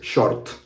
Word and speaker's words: short: Now, with short, it's clothing. So for this word, we pronounce it pretty much the same way, but we just don't really say the T sound.